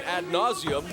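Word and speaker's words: ad nauseam: seven times nothing position ad nauseum with emphasis on the first part of that second word and right now this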